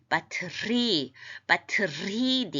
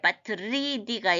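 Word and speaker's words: πατρίδι: 그래서 ente, idia, batridi, 바트리디 이건 약간 후음이라서 영어의 알자하고는 발음이 조금 달라요. 그래서 바트리 이렇게 약간 바람 소리가 있습니다.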